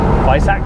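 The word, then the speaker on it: Weissach: But you know, with the Club Sport packs and the Visac it's pronounced, packs, it's kind of an experiment or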